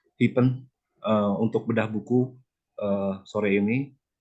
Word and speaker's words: Hyphen: Terima kasih sudah bekerjasama dengan komunitas Hyphen, bacanya Hyphen, untuk bedah buku sore ini.